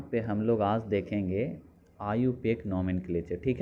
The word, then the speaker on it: IUPAC: पढ़ लोगे आप देखो इसका जो प्रोनाउंस होता है इसे इसका प्रोनंसिएशन आयु पे किया जाता है ठीक है और